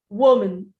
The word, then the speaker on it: woman: Well, the rule in English is this. When you have M-A-N in a word as a second syllable, and you're not stressing it, it's not the main focus